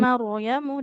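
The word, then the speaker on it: يَا مَرْيَمُ: Ya in maryamu dari situ, dari ya maryamu dengan huruf ro-nya yang ditebalkan ya. Seperti tadi disampaikan sebelumnya, kalau huruf ro sukun didahului fathah dia dibacanya tebal.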